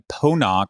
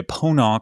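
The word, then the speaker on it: Ponant: completely wrong but i i read that the the t at the end is silent like in croissant so i'm going to say pona cruises a leader in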